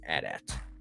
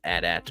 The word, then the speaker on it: AT-AT: say atst but then one time I heard George Lucas say at at and I was like oh I'm gonna say it like that because that's how he said it so but um there's always been that kind of argument is it Adat or atat I think obviously both are correct I mean you can't